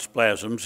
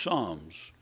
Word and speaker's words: Psalms: of splasms but it's not spasms it's Psalms like one fell I heard about said when he got saved he didn't know John 3 16 he called Psalms palms and job and couldn't